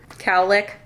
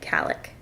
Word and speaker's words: cowlick: I sold it and I've always said it like calic c-a-l-l i c k c a l l i k we ordered a bread